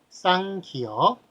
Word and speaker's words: 쌍기역: 끼역. 끼역이라고 읽는데 그래서 막 옆에 그 유재석이 무식하다고 그렇게 이야기를 한 적이 있습니다. 자, 그렇게 읽는 것이 아니라 앞에 쌍자를 붙입니다.